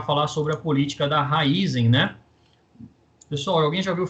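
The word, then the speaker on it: Raízen: Mas eu conheço a pronúncia aí como Raizen, tá bom?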